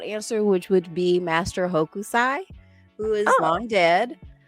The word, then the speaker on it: Hokusai: I mean, yes, Master perhaps Kohusai. Wait, what's his name? Kohus? Hokusai.